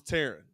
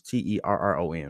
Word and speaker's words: Terron: I thought it was Taryn. Armstead. I like that all three of us got three different pronunciations out of that.